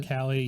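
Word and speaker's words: Uralkali: Uralcali, yeah.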